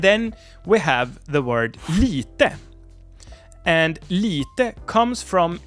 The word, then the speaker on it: lite: we have the word Lite and Lite comes from litet but has lost its T and is now written and pronounced without it so it's Lite and